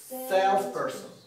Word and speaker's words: salesperson: Salesperson. Salesperson. Ударение на sales.